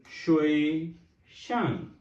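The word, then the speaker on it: 学生: Mention करना है कि हम इसको किस तरह प्रोनाउंस करेंगे. So then we have a सिक्स one, that is अ शुए शंग.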